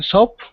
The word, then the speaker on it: soap: the same soap in soap okay right now here's the difference okay in the first word you see s-o-a-p okay the o-a is oh it sounds like oh soap soap okay now soap is